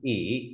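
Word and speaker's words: 乙: Thì chữ này đọc là ỉ, âm tiếng Việt là ất, là vị trí thứ hai trong kanji.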